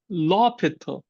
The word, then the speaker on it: l'Hôpital: It's l'hôpital, because in French, they often silent H.